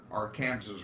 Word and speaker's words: Arkansas: of the state of Kansas the as we pronounce it here our Kansas River or the Arkansas River okay makes a